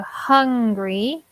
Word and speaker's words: hungry: they're not the same we have an O and an AH mm-hmm so hungry and angry yeah so yes the difference is the H but also the vowel sound is different right yeah so I don't